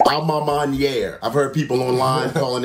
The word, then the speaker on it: A Ma Maniere: first let me say this that it's actually pronounced alma maniere i've heard people online calling it uh-huh all